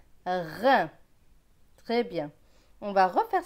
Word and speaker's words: rein: Ici, on a R avec EIN. EIN, c'est 1, R et 1, rein. Très bien. On va refaire cette ligne sans aide. Main, pain, plein, bain, grain, rein.